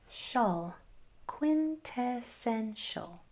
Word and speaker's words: quintessential: Right now, our last syllable is sh quintessential.